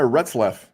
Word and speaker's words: Retzlaff: Jeremiah's in the Bible, but Jeremiah Retzlaff, is that how I pronounce that? Yep.